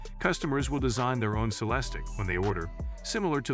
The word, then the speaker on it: Celestiq: to order by hand celestic pronounced sell the SS tick production will necessarily be